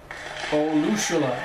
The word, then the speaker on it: Olusola: Olusola, that's how you say his name.